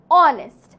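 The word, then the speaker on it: honest: পূর্বে এ বসবে যেমন অনেস্ট অনেস্ট এর আগে এইচ আছে বাট বুঝা যায় না আমরা উচ্চারণ করি না লাইক অনেস্ট এইচ ও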